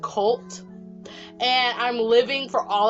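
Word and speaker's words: CVLTE: cult it's spelt civility cv lte but it's pronounced cult and i'm living for all of their songs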